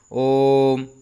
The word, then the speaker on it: ओम: जैसे ओम, है ना, ओम बोलते हैं, तो ये लघु स्वर की अपेक्षा कितना समय लगता है?